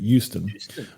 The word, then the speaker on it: Houston: you say that City make sure you say Houston with a y That's How The locals say it Houston uh if you if you put that if you put a h in there they know you're not from there um it's a Bayou